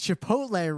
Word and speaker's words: Chipotle: weeks ago was like, "You guys realize it's Chipotle, right?" And I was like, "Yeah." And I didn't know what to say other than to explain in a very laborious sense. We mispronounce it on purpose because we find it vaguely funny.